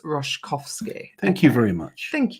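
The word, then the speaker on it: Roszkowski: you for the coverage Ros roskovski is pronounced roskovski thank you very much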